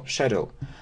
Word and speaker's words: schedule: schedule so you know we can pronounce a schedule or Shadle so if I have